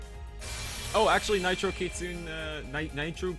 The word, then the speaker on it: kitsune: Oh, actually, Nitro Kitsune, Nitro Kitsune, blah, blah, blah. There are people out there who don't know how to pronounce Kitsune. They think the E is silent for some reason, like it's Kitsune.